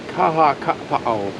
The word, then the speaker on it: Makawao: Makawao recreational area. Easy. Say that again. Makawao. Mike's getting better with his Hawaiian. Makawao.